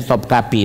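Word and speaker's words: Topkapı: Topkapi itu di Istanbul, ya, tulisannya Topkapi, bacanya Topkapi.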